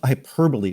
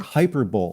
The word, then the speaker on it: hyperbole: that I got embarrassed I I I mispronounced hyperbole when I was maybe close to 30 I said like hyperb I mean my God